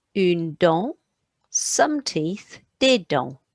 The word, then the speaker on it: dents: A tooth, une dent, some teeth, des dents. Put an S on, but I'm not pronouncing it.